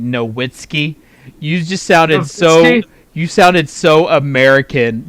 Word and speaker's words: Nowitzki: People are talking about you saying Nowitzki. You just sounded so American just then. Nowitzki? I'll take Dirk Nowitzki. I pronounce it as it's spelled, my friend.